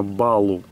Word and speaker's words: Балу: Именно так произносится его имя. Балу, что в дословном переводе означает медведь.